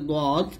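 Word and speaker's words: ض: বাট দদ উচ্চারণের ক্ষেত্রে কিন্তু বাংলার সাহায্য নেওয়া যাবে না, দদ মোটা উচ্চারণ করতে হবে।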